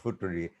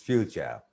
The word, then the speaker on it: future: in this way future so if we follow the spelling f u t r e it gives a very peculiar and sometimes uh I think sarcastic pronunciation Fu T we can say according to the spelling futuri but it's not futuri it's future and procedure and